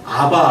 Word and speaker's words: 아바: 풀어주 있는 옛날 성경에는 아바 아버지 아바가 아람어로 아빠예요 발음이 똑같아 거 그래서 아빠 아버지라고